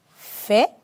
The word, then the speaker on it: fais: Je fais. Je fais. Tu fais. Tu fais. Pueden observar y escuchar que la S al final no se pronuncia.